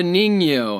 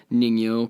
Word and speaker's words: ningyo: a little bit okay this is called the ningyo i'm probably saying it wrong it's spelled n-i-n-g-y-o it has the body of a